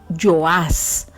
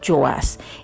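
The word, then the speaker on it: Joás: puede decirse también como yo as o sea con ye porque recuerde en el hebreo la jota por lo general no suena sino que suena como y entonces en hebreo se pronuncia yo as este era el padre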